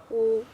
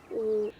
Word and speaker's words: ü: U. U. U. There's a good way to pronounce U. Pronounce E first, and then push your mouth round.